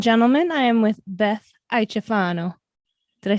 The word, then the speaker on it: Iaciofano: Ladies and gentlemen, I am with Beth Iaciofano. Did I say it right? Oh, I like you got a little twist to it. Iaciofano.